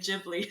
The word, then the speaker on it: Ghibli: So I think that's actually where they got the name Ghibli from. But because of the Japanese pronunciation, they've always been calling it Ghibli. So it's like honestly, both is fine.